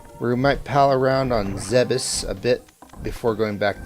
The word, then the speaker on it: Zebes: I'm thinking we might pal around on Zebes a bit before going back to Hyrule. I think... Did I pronounce it right? I did. I just did. It's Zebes.